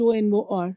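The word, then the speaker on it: honor: horor like h n u or r h o n o r right we spell it as horor but it is absolutely wrong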